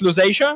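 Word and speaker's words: Lusatia: difficulties for for you in English it is pronounced L Asia but you you are pretty close yes that's the historical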